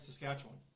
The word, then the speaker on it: Saskatchewan: Or if you say it right, Saskatchewan.